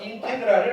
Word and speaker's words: 인테그랄: 1는 자 읽는 거는 이렇게 읽으면 돼요 얘를 인테그랄이라고 읽어요 인테그랄 우리는 적분 기호라고 하는데 여기에서는 적분의 의미는 없어요